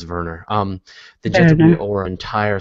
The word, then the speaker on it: Wernher: honors Verner von Braun I keep going Werner Verner I'm sure it's Verner um the gender or